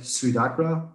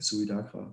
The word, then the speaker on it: SuidAkrA: band i pronounce like swedagra like suicide and dark yeah yeah yeah yeah